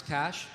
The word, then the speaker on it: cache: You know, I thought people would mispronounce cash, but maybe not in that way. Cache?